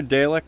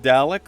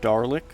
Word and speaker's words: Dalek: Wrong pronunciation. Darlick. There's no R in there, though.